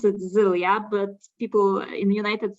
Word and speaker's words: Zylia: is korean it's a female female name we pronounce it zelia but people in the united states i guess they pronounce it xylia right all right okay and another quick question